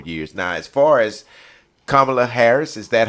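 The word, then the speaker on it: Kamala: do another four years now as far as kamla Harris is that how we pronouncing her name yeah okay as far as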